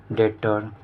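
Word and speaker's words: debtor: तो इसका एग्जांपल जैसे कि हमारा हो गया स्टॉप और क्या हो जाएगा डेटर यह डेटर है यहां बी साइलेंट होता है तो यह सब आप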